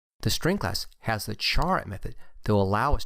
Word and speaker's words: char: collection of useful methods the char data type and again some people might pronounce it care is a primitive type